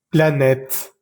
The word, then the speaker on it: planète: Voy a leer estas palabras lentamente y vas a fijarte que nunca pronuncio la E al final de estas palabras. Table, voiture, pomme, livre, porte, chaise, école, femme, plage, lampe, étoile, planète, lune, rivière, montagne, neige, vague, feuille. En ninguna de estas palabras pronuncié la última E.